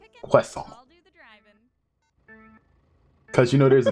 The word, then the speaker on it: croissant: That's a great way to spell it. Q-U-A-S-S-A-N. That's how they pronounce it, basically. Although there'd be an accent over the last A. Croissant.